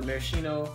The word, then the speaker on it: maraschino: going to put a little bit of the maraschino is how you say it sure anything little